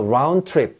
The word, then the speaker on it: round trip: 자, round trip 드트드트 걸리죠. 그래서 round trip 합니다. 항상 뒤에 게 남습니다. round 트 했을 때 트가 남고요, round가 죽습니다. 그래서 round trip. 예, 발음에 있어서는요, 두 개가 부딪히면 미래지향적입니다. 후세 발음을 위해 전세가 양보하는 round trip ticket 이렇게 읽습니다.